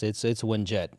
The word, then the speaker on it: Winget: Is it Wingit or Winget? Did I say it wrong? Yeah, it's Winjet, but Winjet. it's not spelled like this.